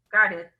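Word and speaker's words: קרת: El Karet es un lugar con Kuf, no Karet de Karet, sino Karet con acento en la Kaf, en la Kuf, Karet.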